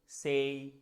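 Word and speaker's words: say: কিন্তু অনেক ভুল করি যেমন এটাকে আমরা বলি মে ডে সে টুডে আসলে যখন আপনি আপনি যদি ব্রিটিশ বা আমেরিকান এক্সেন্ট ফলো করেন যেকোনো একটা ফলো করেন কোন সমস্যা নাই কিন্তু ওরা কিন্তু ওয়ার্ডের শেষে যদি এ ওয়াই থাকে ওরা এটাকে এ না বলে বলছে এই যেমন মেই সেই ডেই টুডে মানডে সানডে তার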